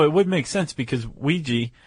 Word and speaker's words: Weegee: Although it would make sense because Ouija, which he adopted that name, but he spelled it phonetically Weegee. Just call me Ouija.